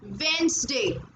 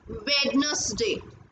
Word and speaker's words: Wednesday: It is also very common word that we mispronounced. It's Wednesday, not Wednesday.